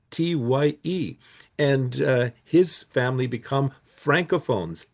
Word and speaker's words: Tighe: In fact, one of our orphan children, Daniel Tighe from County Roscommon, his name is spelled Tighe, but when he inherits the farm from the famille Coulombe in Lotbinière, he becomes Daniel Tighe, Tye.